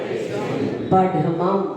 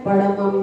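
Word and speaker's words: पढमं: सब्वेशम भी नहीं बोलना है, पड़मम भी नहीं बोलना है। ढा ढक्कन का है, आप देखो, ढा ढक्कन, पाव पणासनो, पाव पणासनो,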